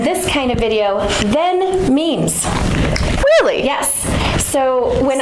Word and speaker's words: meme: their logo on their memes. Awesome. What's a meme? It's not pronounced Mimi.